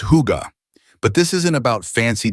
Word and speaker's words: hygge: That's when I started learning about something that Scandinavians call huga, pronounced huga.